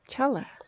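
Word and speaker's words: challah: Did you know that chla is spelled with a C? Chala. It's like chala. Chala.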